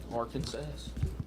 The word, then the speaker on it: Arkansas: If you don't say our Kansas, you could be wrong. You could be wrong. Really? Yep. That's the proper way to say the name by government legislation.